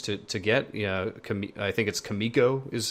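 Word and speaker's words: Kamiko: are good options to get you know commits Kimiko is how you say it very good five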